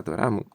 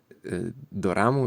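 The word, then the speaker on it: ドラマ: do ramu, czyli perkusja, w standardowym tokijskim akcencie ton słowa do ramu najczęściej jest płaski, tak zwany hean. Czyli wysokość głosu pozostaje taka sama na wszystkich sylabach, bez gwałtownego spadku po żadnej z nich. Wymawiasz więc wszystkie trzy sylaby na podobnej wysokości bez podkreślania żadnej z nich tonem opadającym. No ale ja drążyłem dlatego,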